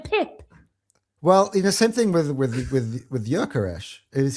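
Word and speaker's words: Gyökeres: Well, same thing with Jökeres. His pronunciation, his name is Jökeres. He has an umlaut in the O. Right, now say that for me. Jökeres.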